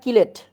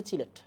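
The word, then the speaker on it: chelate: বুঝলেই হয়ে যাবে বলো চিলেট না কিলেট চিলেট একচুয়াল উচ্চারণ হচ্ছে চিলেট আমি তো তাই জানি ল্যাঙ্গুয়েজে ডিফারেন্স আছে আর কি মানে ফ্রেঞ্চ ল্যাটিন ওকে সবাই কি পড়তেছি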